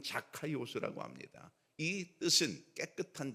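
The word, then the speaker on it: Zacchaeus: 우선 삭개오의 이름을 우리가 정확히 알아야 되는데 정확한 발음으로는 자카 스라고 합니다이 뜻은 깨끗한 자 의로운 자 이런 뜻입니다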